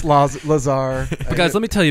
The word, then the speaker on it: Lazar: yes Bob Lazar first I thought it was laser that would have been pretty cool that would've been another coming out of him it's pronounced flaws Lazar guys let me tell you about him a